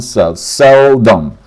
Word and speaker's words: seldom: Seldom stress on seldom.